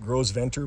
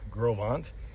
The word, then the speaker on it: Gros Ventre: It looks like Gros Ventre, but it's pronounced Gros Ventre.